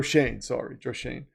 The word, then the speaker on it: Schoen: They're gonna be like Joe Schoen is gonna be in the Giants front offices, just doing nothing. It's John Harbaugh's. I might have to make a skit about this. What Joe Schoen's new role is going to be.